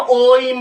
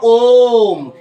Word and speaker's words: ओम: एक ओम ऐसे लिखा जाता है, इसको लोग स्टाइल में ओइम बोल देते हैं। ये ओइम नहीं है, ये है ओम, यानी इसका कोई उच्चारण नहीं होता, इसीलिए इसको लुप्ताकार कहते हैं।